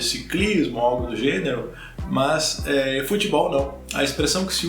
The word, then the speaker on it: futebol: uma palavra em inglês, mas a tônica está no ball, futebol, ball, ok? É a sílaba tônica que é a sílaba mais forte. Não futebol, mas futebol, futebol, ok?